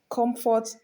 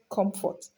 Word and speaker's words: comfort: So there are some words that whether they are noun or verb, they are going to be stressed on the first syllable.